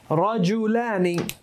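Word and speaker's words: رَجُلانِ: Rajulani means 2 men. Rijlani, 2 feet, 2 legs. All right? You guys see the simple difference of how you pronounce it can be? So it's not just like in English if you, might mix up a word or something and get a little pronunciation off. This will make a big difference sometimes. Rajul, rijlan.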